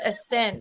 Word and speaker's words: ASNT: Well, and she's from a band called Ascent. So they are, I'll put it up on ASNT. Because it is not spelled like it sounds.